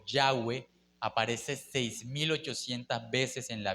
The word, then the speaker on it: Yahweh: De hecho, mi querido hermano, el tetragramatón, esa palabra y hhwh que se pronuncia como Yahweh, aparece 6800 veces en